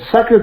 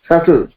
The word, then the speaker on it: subtle: SUBTLE subtle. ए beta उच्चारण होबनी. It is pronounced as subtle. Subtle नुहे. अनेक कई बार मैं सुनी subtle, but that is a wrong pronunciation. It is subtle.